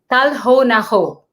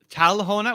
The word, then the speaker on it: Kal ho na ho: Kal ho na ho. Talhona with a T? Kal with a K.